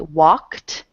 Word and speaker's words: walked: ones we did already walked is the word the ending is a K in the regular verb walk and the K is unvoiced um so it has a t pronunciation at the end and if you you